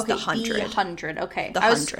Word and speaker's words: The 100: It's pronounced the 100, not the 100. It's the 100.